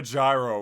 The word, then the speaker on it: gyro: although it's technically pronounced heroes storm hey bro